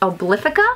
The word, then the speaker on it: Obliphica: I believe this is pronounced Obliphica.